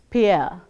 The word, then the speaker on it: Pierre: The next one is Pierre, which is pronounced as Pierre, as in we say deer.